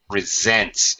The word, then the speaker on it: resent: but inevitably okay uh what's resents resent resents it's a z sound on the S if you resent someone